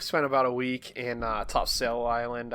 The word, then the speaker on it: Topsail: about a week in Topsail Island I guess it's pronounced top sole by the people around there but in like Surf